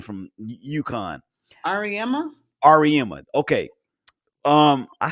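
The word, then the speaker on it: Auriemma: I can never pronounce his last name from UConn. Ariema? Ariema.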